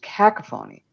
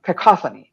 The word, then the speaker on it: cacophony: everybody's playing their own thing and it's just cacaphony uh cacophony of I pronounced that wrong uh and and then all